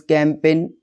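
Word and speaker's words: campaign: अगर जी के बाद एन आता है तो जी साइलेंट होता है। Examples कैंपेन, sign, design.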